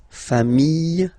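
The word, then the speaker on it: familles: put this s okay final s not pronounced singular form fam plural form same pronunciation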